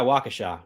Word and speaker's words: Waukesha: Yeah, Waukesha. Got it. Some people say it like Waukesha.